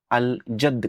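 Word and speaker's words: الجد: पे लगाया गया है, तो आप लाम को क्लियरली प्रोनाउंस करेंगे। अल अब कहेंगे, अल बाब कहेंगे, अल जद कहेंगे।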